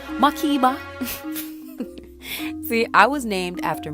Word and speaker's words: Makeba: Well, it's actually pronounced Makeba, but my parents are Jamaican, so they say Makeba.